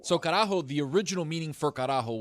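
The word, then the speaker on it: carajo: How do you spell it? C A R A J O. So Karaho, the original meaning for Karajo was on a old Spanish gallion boat, right?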